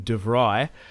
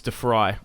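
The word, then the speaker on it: de Vrij: and signed is stefan defry i think that's how you say it some people say stefan devry but it's defry from what i'm aware i'm not dutch dutch subscribers let me know i've always said defy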